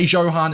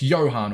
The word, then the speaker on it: Johan: the way I say Johan is a habit I do it on Twitch all the time because I've got a viewer called Johan no it's Johan all right but Jay is silent Johan Cruyff is going